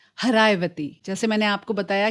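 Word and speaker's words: Haraxvaiti: हरायवती। जैसे मैंने आपको बताया कि पर्शियन में एस का प्रोनाउंसेशन कई जगहों पे एच होता है। तो सरस्वती बनती है हरायवती।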